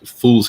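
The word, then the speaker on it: Phule: books and uh fuels fool's company it's always called fuel because it's spelled kind of like yeah ph yeah yeah um but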